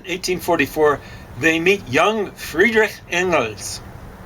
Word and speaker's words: Engels: In Paris in 1844, they meet young Friedrich Engels. Or as you mispronounce it, Engels. It's probably something more like Engel.